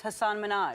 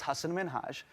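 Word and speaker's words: Hasan Minhaj: please because everyone that says your name says hassan minaj yeah but the real way you pronounce it and this is a big deal because my parents are here it's hassan minhaj and people always mispronounce it they're always like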